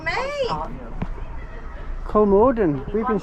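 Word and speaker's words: Kolmården: Kolmarden. We've been saying it wrong. We've been saying Kolmarden. It's Kolmarden. Kolmarden.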